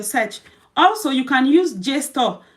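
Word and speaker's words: JSTOR: also you can use J store J store is spelled j s t o r store or you can also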